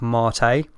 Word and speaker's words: MATE: they're saying like mate instead of marte Wow and I just feel so pretentious if I was like yeah I'm using marte at the moment that I know that's how it's meant to be pronounced but I wonder what